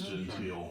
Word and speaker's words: genteel: You have those people who, the southern, hospitality and genteel people, well-mannered. You have that. Genteel, is that the way they pronounce it? Is that gentle? Is that what you're trying to say? It is genteel.